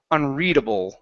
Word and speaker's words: unreadable: When you feel that, that means you're pronouncing it correctly.